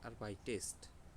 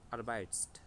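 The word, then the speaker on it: arbeitest: উচ্চারণটা করার চেষ্টা করি এখন আমি যদি আরবাইটের সাথে এক্সট্রা একটা এ যুক্ত করে তারপর এস দিই তাহলে এটার উচ্চারণটা আমরা কিভাবে করতে পারি আর বাই টেস্ট সুন্দর না আর বাই টেস্ট আগে কিভাবে উচ্চারণ করতাম আর বাইস্ট ওইটা একটু কষ্ট হইতো এখন কষ্ট হচ্ছে না আর বাই টেস্ট ঠিক আছে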